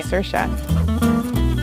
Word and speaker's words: Saoirse: who's mispronounced my name personally I say sir sure it's sure sure look that's just